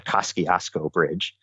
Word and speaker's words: Kosciuszko Bridge: Just yesterday, there's a bridge that connects Brooklyn and Queens called the Kosciuszko Bridge, or as New Yorkers like to pronounce it, the Kosciuszko Bridge.